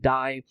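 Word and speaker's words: DAI: of US dollar and die which is spelled as D AI that is D for David a for Alpha and I for India is designed to maintain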